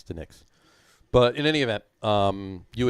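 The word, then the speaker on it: DiNic's: Now, is it pronounced Dinix or Dinix? It's the Nick's. Even those two N's. No, it's one N. There's two It's N's. D-I, capital N-I-C, the Nick's.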